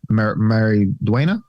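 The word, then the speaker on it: Maridueña: I'd be kind of scared if I was Solo, Mary Duena.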